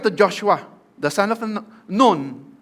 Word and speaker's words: Nun: Joshua, the son of Noon, noon actually ang pronunciation niyan. Hindi siya anak ng madre. Noon.